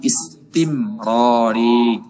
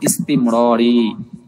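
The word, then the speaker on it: استمراري: এরপরে 4 নম্বরটা মাজি ইস্তিমরারি, উচ্চারণটা একটু কঠিন, ভালো করে খেয়াল করলে হয়ে যাবে। ইস্তিমরারি, একত্রে ইস্তিমরারি, ইস্তিমরারি, মাজি ইস্তিমরারি, ঠিক আছে।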